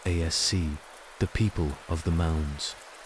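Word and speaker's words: Aos Sí: There were the Aos, often pronounced ASC, the people of the mounds, ancient spirits or deities who dwelt in the otherworld, in burial mounds and wild places.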